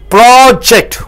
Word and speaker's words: project: When you stress on the first syllable, syllable means what? This O is a vowel. O joins with the PR to give a sound pro.